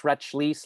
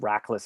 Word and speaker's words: Rachlis: the annual lunch and be like retchlease like she doesn't know my name and there is and there is no i mean we don't even know why it's pronounced rackless it could be anything